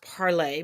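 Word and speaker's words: Parler: it will turn into it's actually pronounced parlay but since they're stupid parlor 2.0 it will be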